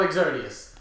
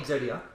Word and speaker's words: Exodia: a special summon and it's not exodius just like what is Exodia I don't care say